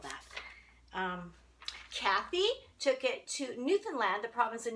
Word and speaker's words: Newfoundland: I can't reveal that Kathy took it to Newfoundland the province in Newfoundland on the eastern coast of Canada and if